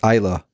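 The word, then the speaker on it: Islay: we've got we're going to I I definitely pronounced Isla it's spelled eilee but the the island of Isla which um the whiskey you're drinking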